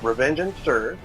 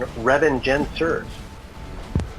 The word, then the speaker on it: Revengencers: Revengencers, so it's just revenge and sirs. Okay. Or there's Zikarat's pronunciation, Revengencers.